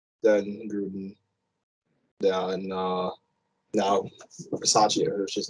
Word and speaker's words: Bisaccia: So Bisaccia is the actual.